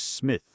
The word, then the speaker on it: Psmith: My name perhaps I ought to reveal to you, is Smith. The P is silent, and until very recently I lived in affluence, not far from the village of much Middlefold in this county.